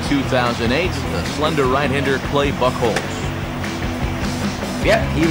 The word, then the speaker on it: Buchholz: And they'll go to work against the no-hit kid from back in 2008, the slender right-hander Clay Buchholz. Yep, he said it wrong. Clay Buchholz.